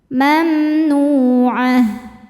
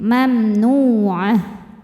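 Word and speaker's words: ممنوعة: Mamnu'ah. Tak marbutoh jadi ha sukun dan ainnya pendek. Mamnu'ah.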